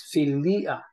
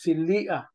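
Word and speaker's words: philia: siya binabasa sa Greek So it is pronounced as filia okay filia because Uh the uta and the Alpha there ah Ay hindi po sila diong so separate po ang sounds nila They have their individual sounds the yota and the Alpha separate po kasi hindi po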